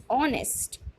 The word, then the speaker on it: honest: next one and um and our HS silent over here our yes an inspector inspector and honest honest so all these birds